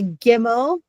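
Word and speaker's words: Gimel: the zion and the gimmel and the gimmel is a hard g sound the samic just a regular s.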